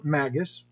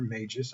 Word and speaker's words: magus: Under the troop system, each player has a primary character, or magus, or magus, I guess, depending on how you pronounce it, plus a companion.